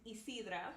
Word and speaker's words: Isidra: My name is Isidra. By the way, you pronounce it like easy.